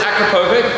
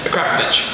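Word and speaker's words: Akrapovič: You say Akrapovich? Akrapovich. Akrapovich. You don't say that. Everyone says Akrapovic, but it's Slovenian, and it's Akrapovich.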